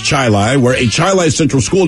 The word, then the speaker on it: Chili: of rochester in fact it's spelled chile it's pronounced chili where a child central school district bus driver